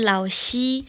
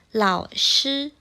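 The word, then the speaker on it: 老师: Misalnya, lao shi. Nah, lao shi. Shi-nya adalah SHI, dibacanya shi, bukan xi. Bukan lao xi, tapi lao shi.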